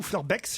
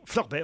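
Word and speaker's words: Fleurbaix: Hélène est dans le Pas de Calais à Florbet ou Fleurbex, je sais pas comment on prononce. Florbet, on prononce pas le X.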